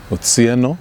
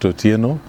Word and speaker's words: Otsieno: Yes, as you rightly put it, my name is Otsieno, not Otieno.